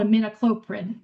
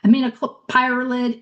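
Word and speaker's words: aminopyralid: active ingredient herbicide class called aminoprid um or amap pyrolid, excuse me, I'm mispronouncing it and mixing up our our stuff, but amino pyrolid is um in some agricultural um products.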